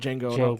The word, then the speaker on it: Django: And then years and years and years like later, they came out with Django. And I was like, oh my god! I was like, the D is silent.